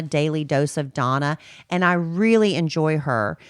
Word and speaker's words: Dana: It's called Daily Dose of Donna, but she spells it like Dana, D-A-N-A, but it's pronounced Donna, Daily Dose of Donna.